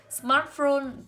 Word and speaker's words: smartphone: Smartphone ghép của hai từ với nhau cho âm rơi vào từ đầu.